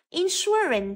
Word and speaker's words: insurance: khí B insurance insurance Vậy chúng ta thấy từ insurance trong âm rơi vào âm thứ hai rơi vào từ bảo